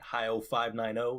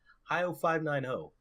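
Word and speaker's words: HIO590: anywhere on the net hi o 5 9 o is how you pronounce it that's what I should be plugging the proper pronunciation of my name hi o 5 9 o is how you say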